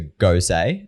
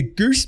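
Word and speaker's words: Gose: he looked at one which was a go say it's pronounced it and spelt g-o-s-e so you wouldn't say what he said he's like i'll just grab the goose beer i i laugh because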